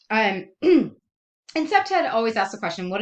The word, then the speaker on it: CPTED: It's pronounced CPTED. And CPTED always asks the question, what is the problem and why does it exist in this specific location?